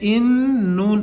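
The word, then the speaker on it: إِنَّا: अलिफ नून ज़ेर इन, नून अलिफ जबर ना, इन्ना। ये अलिफ जो है इन्ना के बाद जो अलिफ है इसको कहते हैं अलिफ मद्दा। इसको एक अलिफ के बराबर खींचकर पढ़ेंगे, इन्ना।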